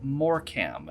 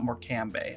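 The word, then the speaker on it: Morecambe: It's Morcam, not Morcambe. Although I don't blame you, we're obsessed with having entire syllables at the end of words that aren't pronounced over here.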